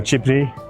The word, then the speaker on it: Ghibli: And there's a Studio Ghibli, or Ghibli, as you pronounce it here, cafe.